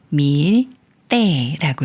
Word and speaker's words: 밀대: 말이고이 꾸며 주는 말에 리을 받침이 초성 디귿을 만나면 쌍디귿 소린 뜨로 바뀌어서 밀 때라고 읽어요 밀때 예문 읽어 볼게요